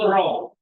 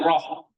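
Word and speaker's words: ρω: Huruf besarnya P. Nih, kayak P kita. Oh. Tapi bacanya apa? R.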